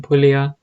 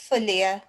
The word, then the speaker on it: Fulia: in Shantipur, Haridas Thakur was in Pulaya, and then or Fulia, I think it's pronounced, I can't remember. Panchali, maybe you could correct us. Yeah, sorry. It's Fulia. Fulia, isn't it? Yeah. Yeah. Yes, it's spelled in a different way, yeah.